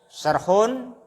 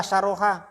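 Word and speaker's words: شرح: Terus berikutnya wa fi ma yali syarhun mujazun. Syarhun mujazun. Itu syarhun apa syarhoha? Hah? Syarhun bacanya ya? Bukan syarhoha, isim atau fi'il bacanya? Isim, bukan fi'il.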